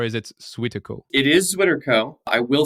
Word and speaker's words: ZwitterCo: words comes from the Germans so do you pronounce it like the Germans like Switzer cool or is it suitable it is sweaterco I will say we have had several members